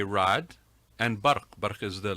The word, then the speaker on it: Raad: a little bit differently some people will want to call me um it's actually rod and there's sort of